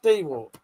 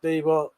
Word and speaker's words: DeWalt: I don't know, but it's called it's pronounced Dwalt. I know it's I know it's pronounced Dwalt. You know it's pronounced Dwalt. The internet knows it's pronounced Dewalt.